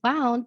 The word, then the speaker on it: wound: had kids say, "Miss, you said wound, but that's a wind, like the wind blowing in the air." And I'm like, yes, that's exactly how you spell it, but we have a different pronunciation because it's a homograph and we have a word that has a different meaning.